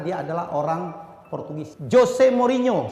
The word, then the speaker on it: Mourinho: Jose Mourinho. Salah kalau dipanggil Jose. Kenapa? Karena dia adalah orang Portugis. J tetap J. NH dibacanya Nye. Jose Mourinho.